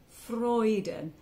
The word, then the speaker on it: Freuden: singing meet freuden so meat is like meat and eat freuden f-r-o-y-d-u-n freuden it's um what we